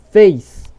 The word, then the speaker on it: face: Face. Observe que esse E também ele não sai, ele é mudo.